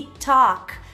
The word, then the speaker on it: talk: talked talked e atenção também para Walk e Talk que não vai ser Walk e nem Talk a gente não vai pronunciar esse a como a e o a